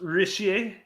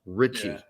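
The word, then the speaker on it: Ritchie: just phenomenal um Stuart Richie not related to you oh no this is pronounced rishier no his would actually be pronounced Richie no doubt about it because it's the Scottish spelling and um yeah I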